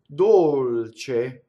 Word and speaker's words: dolce: So CE is che, right? CHE would be che. Che, che. Dolce.